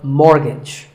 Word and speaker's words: mortgage: buy a house so which letter is silent here it's the t the first syllable is more and the second is gitch so mortgage number 27 is this